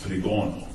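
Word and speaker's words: τρίγωνο: So she kind of looked at that, and she looked up the word triangle, and in Greek it's pronounced trigono, which is triangle.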